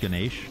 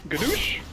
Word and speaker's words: Ganesh: It's pronounced Ganesh, actually. Ganoush? No, Ganesh.